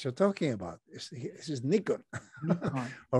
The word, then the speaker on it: Nikon: In Japan, it's pronounced Nikon. I know we call it Nikon.